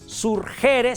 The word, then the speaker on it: surgere: Surgere se escribe y se pronuncia surgere.